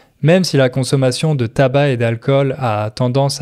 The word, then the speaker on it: tabac: Attention, en français, on ne prononce pas le C. tabac et pas tabac.